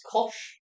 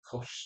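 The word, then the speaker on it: Koch: We are pronouncing that as kosh. Yep. Because I think that's the safest option.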